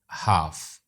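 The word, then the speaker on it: half: है उनको भी पढ़िए Umar cut the apple in हाफ हाफ silent क्या है L light travels faster than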